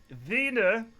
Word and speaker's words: Wiener: Yeah, I mean, if you pronounce it with the V, as what we call a V, Wiener, so it sounds dirty.